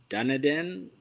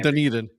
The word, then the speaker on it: Dunedin: I'm a good friend of their merchandiser in Dunedin. I pronounce it wrong. Dunedin.